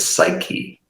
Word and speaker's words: psyche: It's where we get the word psyche, and from Poseidon, that silent P at the beginning.